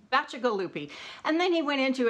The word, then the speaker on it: Bacigalupi: we get the final word on how to pronounce it he said yes it's magical loopy and then he went into a very long